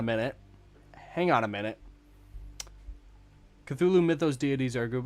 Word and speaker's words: Cthulhu: I some I had some dude tell me that Cthulhu was a real god from a uh a string of islands and they pronounce it Culahoo.